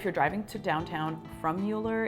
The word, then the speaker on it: Mueller: my list is the Mueller neighborhood or I guess depending who you are and what you believe it could also be pronounced Miller let me tell you